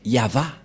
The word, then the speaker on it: Yahvah: c'est V et et la prononciation de ceci c'est yava voilà la prononciation de